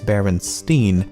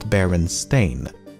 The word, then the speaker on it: Berenstain: However, many remember the name as Berenstein and not Berenstain.